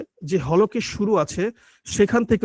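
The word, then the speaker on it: ث: সা হচ্ছে খুবই গুরুত্বপূর্ণ একটা হরফ, কারণ এটা উচ্চারণ অনেকের হয় না। এই দেখুন জিহ্বার যে আগাটা আছে, জিহ্বার আগাটা সামনের উপরে দুই দাঁতের আগার সঙ্গে লেগেছে এবং ঠোঁট কিন্তু ফাঁকা থাকবে। এবং এটা উচ্চারণ করার উপায় হচ্ছে আপনি সামনে এভাবে হাত দিবেন, সা। সাটা যখন বলবেন, জিহ্বার আগাটা সামনের উপর দুই দাঁতের আগার সঙ্গে লাগিয়ে, তখন কিন্তু একটা বাতাস বের হবে।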